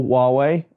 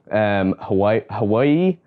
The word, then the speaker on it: Huawei: I recently went on eBay and bought one of Huawei's most flagship phones, the P40 Pro. Now a lot of you may know Huawei, and if you don't know how that's spelt,